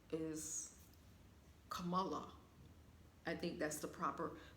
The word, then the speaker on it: Kamala: I believe the correct pronunciation of her name is Kamala.